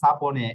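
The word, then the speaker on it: sapone: হচ্ছে আয় একটা বোকালে ওকে সালে এই যে সাপনে এস এর পরের অক্ষর একটা বোকালে রয়েছে এই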